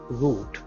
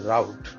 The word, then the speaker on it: route: So some people, they want to go this route, or as the Americans say, a route.